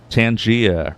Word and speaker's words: Tangia: Tangia rhymes with rhymes with Narnia.